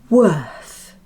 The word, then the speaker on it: worth: Worth. Worth. The trick is to open your mouth after the first sound, W, and keep it open until the th sound.